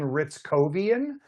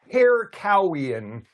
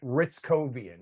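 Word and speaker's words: Hrycowian: Like if you look at it, you would want to say hair cowian, but he pronounces it Ritzovian.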